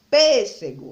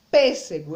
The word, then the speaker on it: pêssego: Então, a gente pode pronunciar as palavras que o rapaz está vendendo aqui, ó. Pêssego, laranja e caqui.